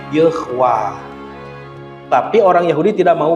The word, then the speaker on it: Yahweh: y h w h orang Kristen nyebatnya Yahweh padahal tidak ada bacaan yahwe ini huruf ini tanda baca E ini tanda baca a panjang jadi bacanya ywah tapi orang Yahudi tidak